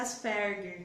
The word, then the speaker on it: Asperger: Tem até um vídeo dele que ele fala sobre autismo versus Asperger. Isso. E ele pronuncia Asperger, que é a pronúncia do alemã, né? É alemã a pronúncia.